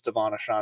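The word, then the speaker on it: De'Von Achane: you say his name I believe it's Devon aan I've been saying it wrong all year uh between his ankle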